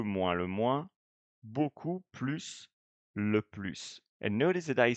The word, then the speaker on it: plus: form or le plus, you're going to pronounce S, the final S, which is an exception, of course, because in